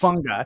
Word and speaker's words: Hufanga: And I know I'm going to get the name wrong. I think it's Taulanga Hufanga. Yes. Hufanga.